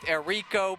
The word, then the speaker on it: Erico: get that pronunciation right we had been going with Erico but she notified us that it is Erico so she ran to